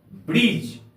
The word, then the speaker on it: bridge: जी के पहले डी का प्रयोग हो तो वहां डी का उच्चारण नहीं किया जाता है, डी यहां पर साइलेंट रहता है। जैसे हम लोग लेते हैं BRIDGE, ब्रिज।